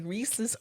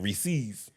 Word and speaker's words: Reese's: People start saying Reese's, right? Yes. And she says, it's supposed to rhyme with pieces.